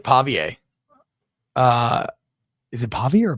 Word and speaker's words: Pavia: got me on pavier it's not Pavia pavier I can't tell if you're not really answering you're just saying it up again pavier that that's how you would pronounce it in the booth you would say pavier so it's not Pavia